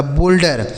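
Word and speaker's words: boulder: बी ओ यू एल डी ई आर। तो बी से हो गया दोस्तों ब। इस ओ यू का उच्चारण ओ की मात्रा। एल से आधा ल डी ई से ड आर से र लिखा। बोल्डर।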